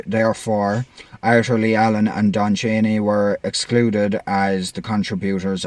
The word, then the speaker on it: Cheney: with the DNA of Don Cheney um or Cheney um it does not a like Dick Cheney c-h-e-n-e-y that's the only reason I know how to pronounce it I don't even know